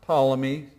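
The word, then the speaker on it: Ptolemy: and then we have palmy spelled with a t but the t is silent tmy and they took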